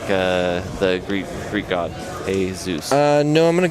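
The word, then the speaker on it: Hay: to Serb his name is officially changed to hey spelled and pronounced h a y s o it's official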